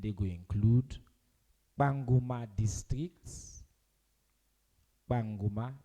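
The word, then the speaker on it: Kpanguma: Banguma, it's spelled K-P-A, not P-A.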